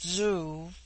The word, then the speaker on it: zoo: on the other hand z when an initial is with them a sound in which the breath is sucked inward and thus zoo pronounced zoo which in their language